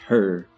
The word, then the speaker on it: H.E.R.: 27 1997 better known professionally as her pronounced her an acronym for having everything revealed so that's what we're